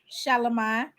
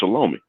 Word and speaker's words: Shalimar: Shalimar. Oh yeah. Is that how you pronounce that girl's name? Yes. Oh, why I kept thinking that girl's name was Shalomi?